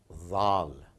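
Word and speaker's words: ذال: This is again a little deeper in your tongue, zal, zal. Again, as I said, do keep listening very attentively, closely, the way the Arab brothers and sisters that they pronounce it. And I put it over here as DH, zal.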